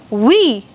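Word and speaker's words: oui: yes I am married we it's not we it's we very good we just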